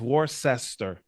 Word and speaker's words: Worcester: Worcester is Warcester.